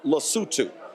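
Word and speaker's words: Lesotho: in his speech uh he literally mispronounced the mispronounced the country then folks started to actually laugh in the room uh it's called lutu okay their foreign minister said he was shocked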